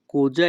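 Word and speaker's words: così: কোজা ইন্তেন্দি। যখনই আমরা ইতালিয়ান ভাষায় কাউকে বলতে চাইবো তুমি কি বলতে চাও, তখন আমাদেরকে বলতে হবে কোজা ইন্তেন্দি। তাই নাকি? এ কোজি। এখানে SI এর উচ্চারণ হবে জি।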